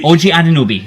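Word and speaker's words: Anunoby: O O OG Anobi. Ojanobi.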